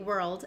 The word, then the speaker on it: world: naturally world world but if you're learning English and the r and l transition is a little bit difficult and you're having trouble moving your tongue back and forth what you could do is break down the word and say were first and then to get the L Sound were old maybe you